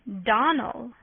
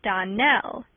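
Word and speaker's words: Donnell: you pronounced our name Donal now miss shely the correct pronunciation of our name is Donell Accent on the last syllable I hope you remember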